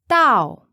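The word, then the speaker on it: 到: buy it listen to the word for to arrive Tao Tao Tao Tao that's fourth tone ask have you arrived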